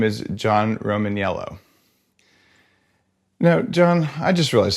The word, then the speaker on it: Romaniello: called you romanello but there's an eye in there that I never noticed am I have I been saying your name wrong this entire time and just being like a dick no we we we don't use the eye the eye is it's a silent eye I assume I assume